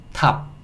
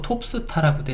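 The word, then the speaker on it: top: P는 티리, 오는 아 소리, P는 피읍 소리. 그래서 요거는 탑 탑 탑 요렇게 읽을 수 있고 탑이라는 거는 꼭대기예요. 꼭대기. 그래서 우리 어 꼭대기에 있는 뭔가 정상급 스타. 스타는 스타인데 정상급에 있는 스타를 우리가 탑 스타라 그러죠. 탑스타. 근데 이것도 옛날에는요 5를 5처럼 발음해 갖고 톱스타라고도 했습니다. 톱스타.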